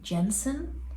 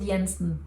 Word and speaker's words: Jensen: by Daniel ill Jensen or is it Yensen because we've got Yensen as a last name in Denmark and then you don't pronounce it as an English J but if she's not Scandinavian I think it's still Jensen do you guys know it's